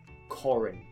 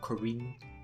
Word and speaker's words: Corin: Corin, not Corinne.